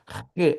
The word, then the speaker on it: He: Do 33 ao 40, E, ainda que está com HE, mas é E a pronúncia.